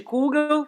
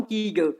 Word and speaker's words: kugel: Que eu chamaria de kugel por falar alemão, mas que eles falam kigel por ser Yiddish.